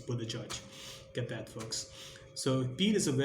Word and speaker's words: Buttigieg: I think it's Buddha Judge, not how it's spelled, but I geek. I mean, it's Buddha Judge.